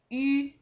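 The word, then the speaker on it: ü: The last one is yu. Its pronunciation is just like you are with the same tongue position as when you pronounce the final e, but the shape of the lips are the same as when you pronounce final u.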